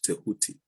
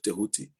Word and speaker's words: Tehuti: It sounds like a D or a DJ to people who are used to Latin speech, or I don't know